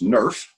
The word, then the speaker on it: Nrf: Jaffe share his opinion on these activators well yes the acronym is often pronounced nurse because that's what it would if you just pronounced that acronym there are many many